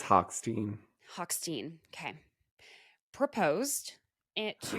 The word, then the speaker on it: Hochstein: How are we pronouncing this? Am I saying it incorrectly? I think it's Hochstein.